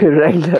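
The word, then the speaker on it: Wrangler: রেঙ্গলার নাকি ওয়াংলার না রেঙ্গুলার রেংলার আচ্ছা হ্যাঁ ডব্লিউ টা আর তার উচ্চারণ হবে না রেঙ্গলার হয়েছে অনেকেই কনফিউজ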